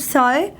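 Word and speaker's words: psi: Water potential इसको हम Greek letter से डिनोट करते हैं, जिसको वी प्रोनाउंस इट साई।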